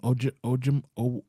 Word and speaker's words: Ojomo: Ojomo.